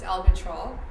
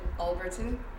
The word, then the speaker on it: Albritton: Well, in the South Bronx accent, it's Albatrol, but I pronounce it Alberton.